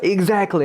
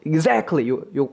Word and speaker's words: exactly: 한번 들어 볼게요 exactly 강세가 들어가 있습니다 그렇죠 exactly 해서 정확히 뜻이고 요거 여러분들 발음 exactly라고 하지 마세요 어 한글로 굳이 따서